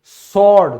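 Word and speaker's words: sword: तलवार, सॉर्ड, तो कभी आपने ध्यान दिया है क्योंकि ये S के बाद आया है इसीलिए हमारा W साइलेंट हुआ है।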